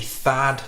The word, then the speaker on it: Thad: So we have our lead character, Tad, or maybe Thad Beaumont. It's spelt T-H-A-D. I've heard people say Thad, I've heard people say Tad. I'm going to say Tad because I'm not very good with TH sounds.